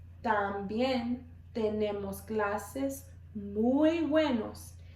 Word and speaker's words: también: También tenemos. También tenemos. One more time. También tenemos. So our T's, remember, our tongue is going to be between our teeth when we're pronouncing our T's.